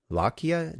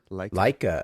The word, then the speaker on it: Leica: suggestion was for and I'm not sure I'll pronounce this correctly either, but what is it, the Lakia notebooks? Leica.